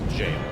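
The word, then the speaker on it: Gaol: yeah yes that actually should just be pronounced jail ever jail I guess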